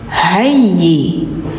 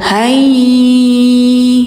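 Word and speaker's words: هَيِّئْ: Nah, jadi jangan zi tapi zi' auzi ni wa hayyi lana hayyi. Hayyi jadi enggak hayi jangan ditahan, jangan didengung langsung. Hayyi wa lana qurrata a'yunin a' qurrata a'yunin ayyul Ayyul.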